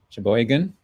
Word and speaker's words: Sheboygan: and it is from mackinac city sheboygan michigan sheboygan yeah is that how is that the right way to pronounce it yep okay or you're just making